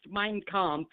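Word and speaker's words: Mein: okay first it's pronounced minec M how do you say Hitler's book M mine mine like a land mine oh okay okay mine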